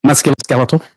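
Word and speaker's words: musculoskeletal: How should that word be pronounced? Muscularkeeletal.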